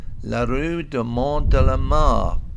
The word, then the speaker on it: La rue de Mont de la Mare: If you've watched this channel before, you'll know my French pronunciation is pretty ropey, but I think this should probably be pronounced La rue de Mont de la Mare.